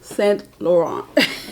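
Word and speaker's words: Saint Laurent: your favorite fashion house and why let me pronounce it right it's s lauron and that is um classic um if I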